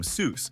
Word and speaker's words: Seuss: Theodore Geel actually pronounced his pen name Seuss so that it rhymed with the word voice, not the word goose.